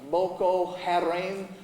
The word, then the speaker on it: Boko Haram: then here in maduguri it's called uh boko haram it's kind of how it looks when it's spelled out and it's that phrase